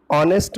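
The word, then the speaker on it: honest: का यूज होता है ऑनेस्ट में फर्स्ट लेटर है लेकिन यहां पर साइलेंट रहता है इसका प्रनंसीएशन और वेस्ट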